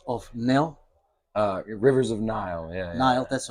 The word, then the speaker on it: Nihil: uh from Revel of nil uh rivers of Nile yeah that's how we pronounce it yeah correctly okay all right and